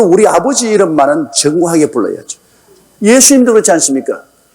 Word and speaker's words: 예수: 아버지 이름만은 정하게 불러야죠 예수님도 그렇지 않습니까 정확한 예수님의 이름은 예수입니다 예수 우리 한국말이 딱 맞아요 근데이 미국사람들은 자기들 발음에 맞춰 가지고 지자식 합니다 예수님하고 지혜 자수하고 얼마나 다릅니까 아마 예수님도 오셔서 저거